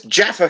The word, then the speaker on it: Jaffa: oh oh no without Yaffa cake would you stop mispronouncing is jaffa cakes what yeah but no